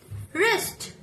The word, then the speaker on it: wrist: When the W comes before R, then we don't pronounce it. Like wrinkle, wrist.